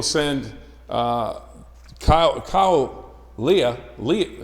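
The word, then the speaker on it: Leahy: Leah, is that how you say his name? Lehey.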